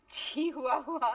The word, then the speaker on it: Chihuahua: That's not Chihuahua, it's Chihuahua.